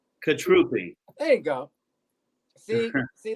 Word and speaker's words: Cutrupi: butchered your last name no you got it right the second time it's fine it's like you're vietnamese katrupi katrupi there you go see